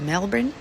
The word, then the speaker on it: Melbourne: Um so, he's got his Airbnb booked in Sydney and then he's moving um to Melbourne. Melbourne? That's how they say it, Melbourne.